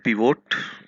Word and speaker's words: pivot: वास्तव में वो एक्सेल का मैजिक है और उसको कहते हैं पिवोट, कुछ लोग पाइवोट कहते हैं। सो पिवोट या पाइवोट, आप जो भी प्रोनाउंसिएट करें, इट गिव्स अ